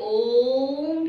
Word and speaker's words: ओम: तो ओम का उच्चारण हमें ऐसे करना है कि जब ओम शब्द जब बोला जाए तो जो ओ शब्द है पहले उच्चारण में ओ शब्द जो एक 100% लेकर चलते हैं तो ओ शब्द हमें 75% बोलना है और माँ शब्द का उच्चारण 25% करना है।